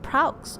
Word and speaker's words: Praux: Is that Praux? Is that how it's pronounced?